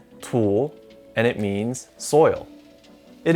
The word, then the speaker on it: 土: with the ancient character this character is pronounced tulle and it means soil